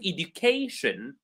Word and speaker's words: education: So information, the syllable right before shin is may, so we stress that. In the word education, we stress K because it's right before shin.